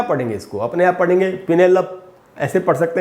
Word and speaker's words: Penelope: अब अपने यहाँ क्या पढ़ेंगे इसको, अपने यहाँ पढ़ेंगे पिनेलप, ऐसे पढ़ सकते हैं शायद, जैसे होता है इनवेलप, ऐसे करके हम पढ़ते हैं। पिनेलप नहीं होगा दोस्तों, इसका शुद्ध उच्चारण है पिनेलपी, पिनेलपी।